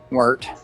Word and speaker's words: Wirt: Lorak against Wordy or Wort, yeah. Wirt. There you go. You gotta say it like you're doing a frog voice, so it's Wort, Wirt. Wirt.